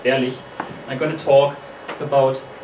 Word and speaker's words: Berlich: My name is Berlich, or Berlich, as I've heard it pronounced here quite often, but it's actually pronounced Berlich.